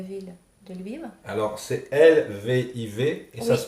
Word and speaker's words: Lviv: Alors, c'est Lviv et ça Oui, se prononce comment? Et ça, Lviv.